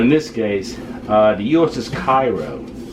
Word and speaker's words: Cairo: But in this case, the USS Cairo, or Cairo as they pronounce it back then, a city-class ironclad,